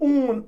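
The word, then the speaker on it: -one: ये मिला CO, तो इसको हम ऊन, ON, वन नहीं पढ़ते बल्कि इट इज प्रोनाउंस्ड एज ऊन।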